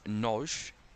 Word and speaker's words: Nagy: Been pronouncing that name wrong, but I apologise. Adam Noj.